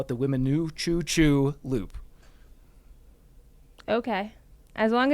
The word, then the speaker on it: Weminuche: So I'm going to call it the Weminuchoo Choo Loop.